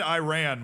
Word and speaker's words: Iran: Oh, he said Iran, which is the American way to pronounce it, which which just triggered the entire country of Iran.